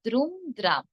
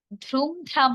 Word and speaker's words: দ্রুম দ্রাম: আবার দ্রুম দ্রাম, ধ্রুম ধ্রাম হবে না, কি হবে দ্রুম দ্রাম।